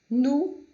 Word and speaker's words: nous: étudiant, que significa aluno, nous, que é nós, não é pronunciado o S, nez, que significa nariz, e laid, que é feio, ok?